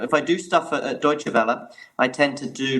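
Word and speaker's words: Deutsche Welle: com but you'll probably tell us the correct pronunciation of the actual of the actual company yeah it's a deutsche bella so it's germany's public broadcaster i mainly focus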